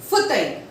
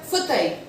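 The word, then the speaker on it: fauteuil: Now, the point number 18 says that if E-I-L or E-V-I-L or E-V-I-L-L-E, they come together in a word, the pronunciation is I. E-I-L, E-V-I-L, E-V-I-L-L-E, if they come together in a word, the pronunciation is I. For example, soleil, S-O-L-E-I-L, soleil. F-E-U-I-L-L-E, file. F-E-U-I-L-L-E, file. F-A-U-T-E-V-I-L, that is futai. F-A-U-T-E-V-I-L, that is futai. Soleil is a sun. Fur is a leaf. Futai is a sofa or an armchair.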